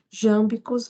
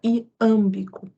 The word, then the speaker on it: iâmbico: Os professores aqui, que são craque em métrica, podem ter estranhado quando eu disse jâmbicos, porque também a gente usa a palavra iâmbico.